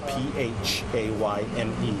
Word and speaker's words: Phayme: Last name is spelled P-H-A-Y-M-E, pronounced Phayme.